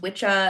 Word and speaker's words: Wicca: um it was traditionally pronounced witchah and it's like one of the words that led to the word witch but he was the one who coined it as a term for this religion.